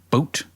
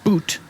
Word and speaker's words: Bout: of arms dealer Victor bout boot boot b-o-u-t it says pronunciation looks like it's boot boot we recorded Wikipedia who